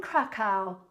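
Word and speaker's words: Kraków: you thank you uh Olga you are in krackow I got it right I was trying to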